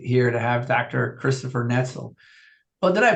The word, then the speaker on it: Netzel: Christopher Netzel. Oh, did I pronounce that right?